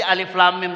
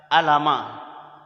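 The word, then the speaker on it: الم: Ada yang membaca alama. Alif lam mim dibaca alama, Pak.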